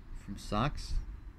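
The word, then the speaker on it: Sachs: The Z-Tune is also improved with an aggressive suspension setup from socks, not to be confused with, like, a clothing. It's spelled S-A-C-H-S. S-A-C-H-S. And a specially designed Brembo brake system.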